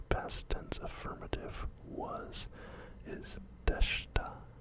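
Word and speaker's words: でした: The past tense affirmative was is deshta. Again, we do not pronounce the I. Don't pronounce the I. Deshta.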